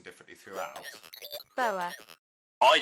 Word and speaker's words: Boer: Boer. I say Boer. Did you hear that? Do it again. Hang on. Boer. Did you hear that? No. Okay, it goes Boer.